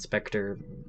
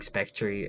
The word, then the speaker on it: Specter: really good tower spectory i say spectry not specter because that's how i miss but it's how i mispronounced it when i started playing the game and honestly i just been kind of saying spectry ever since i started playing so it's